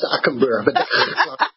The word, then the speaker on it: Stakenburg: It's Stakenburg. Yes, I like that. I like that. That's difficult for English people to pronounce.